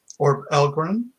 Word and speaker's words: Orbbelgguren: an author of the fantasy fiction series called or elgram it means dark elf um it means spider